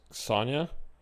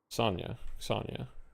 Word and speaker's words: Zania: Zania is pronounced as Sonya? Sonya. Okay. Like Sonya Sniper.